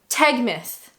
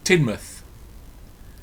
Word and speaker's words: Teignmouth: Now, my heart says Tegmouth. Tegmouth is my guess. Teignmouth.